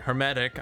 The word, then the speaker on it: Hermetic: Sorry, Hermetic. I was told that's how it's pronounced.